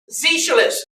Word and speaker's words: Sozialist: Na, from national, and Z, because the way the Germans pronounce socialist is Sozialist, not Z.